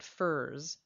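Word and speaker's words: furze: a quick aside the poet uses the word Furs a few times it's spelled f-u-r-z-e and it refers to an evergreen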